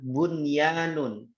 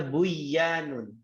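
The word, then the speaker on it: بنيان: Ada lagi dalam Al-Qur'an bunyanun, bangunan. Nggak boleh bacanya buyanun, nggak boleh bacanya ya duya, nggak boleh, harus dunya, tidak boleh duya, itu ya teman-teman ya.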